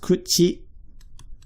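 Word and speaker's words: 口: It's pronounced kuchi.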